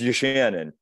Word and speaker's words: Yachanin: Everybody mispronounces it. It's Yachanin. Yachanin.